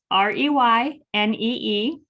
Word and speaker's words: Reynee: I'm Reynee with a Y, Reynee.